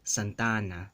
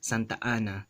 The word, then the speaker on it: Santa Ana: So in a normal Spanish, or I guess in standard Spanish accent or dialect, this first phrase is going to be elongated with that vowel, Santana, right? Santana, or pronounced as Santana. But in Philippine Spanish, it's Santa Ana, Santa Ana. There's that glottal stop, Santa Ana. There's a glottal stop between the two A's, but normally it's liaised, right?